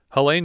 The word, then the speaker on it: Helene: It's Helen with an E at the end. Helene? Helaine? Helaine. Helaine Udy played Sylvia.